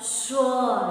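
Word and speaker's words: sure: Shore, shore, pronunciation, shore, S-U, S-U-R-E, shore. Not S-H, H is not there, but the pronunciation is same, shore, shore, string.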